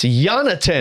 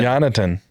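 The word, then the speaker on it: Jonatan: No, the first name. Jonathan. It's Jonathan. Jonathan.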